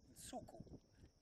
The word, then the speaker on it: Nsuku: He, unlike not Brent but me, will not lose his hair, and so Nsuku is how we say it. And that's the Xitsonga word, and it's spelt.